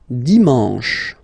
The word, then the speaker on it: dimanche: And the last one, dimanche, dimanche. You get the sh, and then en, dimanche. Okay, let's see them one more time. Lundi, mardi, mercredi, jeudi, vendredi, samedi, dimanche.